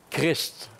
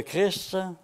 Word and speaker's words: Christ: Les 2 dernières lettres de Christ, ST, ne sont généralement pas muettes. Elles se prononcent habituellement.